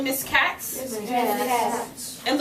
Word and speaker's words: Katz: Can everyone say Miss Katz? Miss Katz. And look at how it's spelled, K-A-T-Z. But know right now that word is Katz.